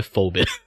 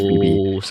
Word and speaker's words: Phoebe: So you you didn't get Phoebe because I believe you need Phoebe to to play uh with Dani. Yeah. Like F. You call it Phoebe. I call her Fobbit. Yeah. Yeah. It's Phoebe.